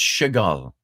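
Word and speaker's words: שגל: It's the Hebrew word that's pronounced shegal. And that's as close as you can get in the vernacular Hebrew to the word fuck.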